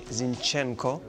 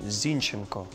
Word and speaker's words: Zinchenko: E is you know they used to say zinchenko but I'm zinenko but I don't know since they won they used to pronounce my name like that so I get